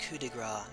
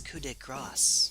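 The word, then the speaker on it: coup de grâce: supposed to be speaking French it is not pronounced coup de gras that is French for touch of fat Graw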